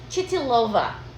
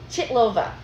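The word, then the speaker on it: Chytilová: And I don't know how to pronounce this. The director's name. So it's 1966. 66. Chitilova. Okay. Chitlova.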